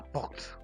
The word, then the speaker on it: porte: we call it la porte. La porte. There's an R in between, so that's why you help me pronounce the R. Porte.